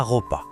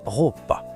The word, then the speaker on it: ropa: Le tout premier mot, vraiment la base de tout, c'est celui-ci, la ropa. Écoutez bien la prononciation avec le R qui roule bien. La ropa, c'est le mot général pour dire les vêtements, incontournable.